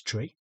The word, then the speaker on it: three: two pronounced as two, three pronounced as tree, four pronounced as flower, five pronounced as five, six pronounced as six, seven pronounced as seven.